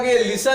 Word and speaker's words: listen: ई और एन है, इससे पहले ये जो टी है वो टी साइलेंट रहता है। जब भी लिखा होगा ये TEN तो ये एन से पहले जो ये टी है ये टी साइलेंट रहेगा, वो टी क्या रहेगा, साइलेंट, वो टी पढ़ा नहीं जाएगा, वो टी क्या रहेगा, साइलेंट रहेगा।